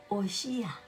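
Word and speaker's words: הושע: Y ¿cómo se dice en hebreo Oseas? Oshia, se dice, mire, y eso era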